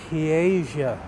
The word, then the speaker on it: Piega: Piega. It basically is pie with a GA at the end, so you can't say it without saying pie, but you have to, yeah.